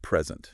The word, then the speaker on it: present: But if you stress the second syllable, it's a verb, Interesting. meaning to give something.